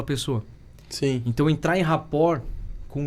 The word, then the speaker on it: rapport: aprende lá em 2004 um termo que chama rapport é um terror francês Raptor chama escreve rapport com dois pesos e tem mundo que